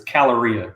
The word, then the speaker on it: Caloria: It's Caloria. The K is silent.